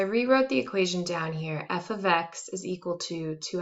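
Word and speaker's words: f(x): thing here is pronounced f of x and i know it looks exactly like f times x with those parentheses there but what it actually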